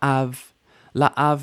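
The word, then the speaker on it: לאב: word down here La laav Means to or for or by the father and make sure that you hear that we're not mushing these vowels together two distinct vowels LA new vowel now we had some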